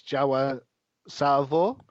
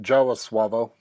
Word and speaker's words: Jawa Suavo: I'm going to say it's Jawa Salvo. Is that how you pronounce it? Yeah, Jawa Suavo.